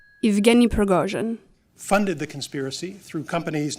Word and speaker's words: Yevgeny Prigozhin: The other individual defendant, Yevgeny Viktorovich Prigozhin, It's pronounced Yevgeny Prigozhin. Yevgeny Prigozhin. Yeah, that's right. Yevgeny Prigozhin.